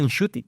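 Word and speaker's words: Ncuti: Dice, "Hablando con mi madre y con mi familia, he descubierto que mi propio nombre se pronuncia en shooty." En shuti.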